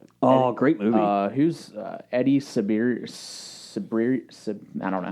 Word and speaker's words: Cibrian: Who's Eddie Sabir? I don't know how to say his last name. Sabaro. Cibrian.